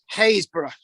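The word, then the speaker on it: Happisburgh: I'm going to read this out. Happisburg, Haysborough. It's like Hawick, Hoyk.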